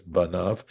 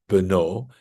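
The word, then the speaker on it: בָּנָיו: Now notice it's spelled this is a cre so we're supposed to read it as banav his sons even though it's spelled beno his son right and his entire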